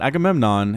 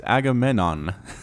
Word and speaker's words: Agamenon: It's not Agamemnon, it is Agamenon.